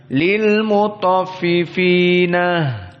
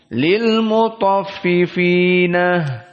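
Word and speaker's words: للمطففين: Maka dari qiraah Warsh yang khusus kita membacanya dengan 6 lil mutaffifin. Qiraah Yaqub lil mutaffifina.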